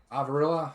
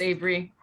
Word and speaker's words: Avery: Avarilla, how do you say your name again? It's just Avery.